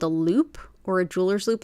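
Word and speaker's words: loupe: use one of these guys it's called a loop or a Jeweler's loop it's spelled l o u p e to help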